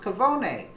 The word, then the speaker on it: cafone: It is a cafone, or cavone, pronounced cavone.